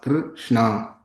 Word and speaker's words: Krishna: Thus, the following syllables are long in the Mahamantra: Hare, long vowel, a, Krishna, short vowel, r, but ensued by two consonants, sh, nya.